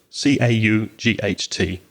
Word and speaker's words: caught: i caught a fish be careful of the pronunciation of the past of catch it's called c-a-u-g-h-t i caught a fish and you use the